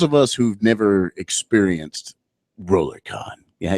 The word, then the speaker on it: RollerCon: us who've never experienced RollerCon yeah you have to say it like a rollercoaster I can't do it